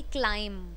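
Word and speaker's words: climb: ऐसे ही मिलते जुलते वह दें जैसे कि क्लाइंब लास्ट में अगर भी आ रहा है साइलेंट कर दो तूम साइलेंट कर दो हम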